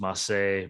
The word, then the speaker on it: Mace: All I got to say is I feel, again, the pre-show, Justin, I feel bad for Mace just to go from one terrible gimmick to this, now pronounced Masse.